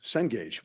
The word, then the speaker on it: Cengage: How do you pronounce CEN? Cengage? Yes, Cengage. Well done.